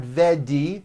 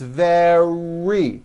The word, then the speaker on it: very: It's not a D sound. The word is not vedi or very, it's very.